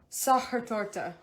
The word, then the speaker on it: Sachertorte: things like that and this dessert is actually pronounced sahar torta yes erica knows that because she asked her